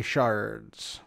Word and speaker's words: sherd: And today we are focusing on pottery shards. And it is called shards, actually. I don't understand why it's called sherd, S-H-E-R-D, when it's pronounced shard, S-H-A-R-D.